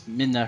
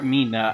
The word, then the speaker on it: Midna: Now we get to introduce to everybody's favorite character in Twilight Princess, Midna herself. She's naked. Or Mina. I think it's pronounced Midna.